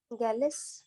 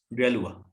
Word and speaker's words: Galois: गैलिस। गैलुआ। यही पढ़ना है बच्चों।